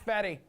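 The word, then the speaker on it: Fedde: All right, Eric Fetty, Care Bear, right? Is that how you say it? That's how you say his name, right? Yep, Fetty. Okay, nailed it.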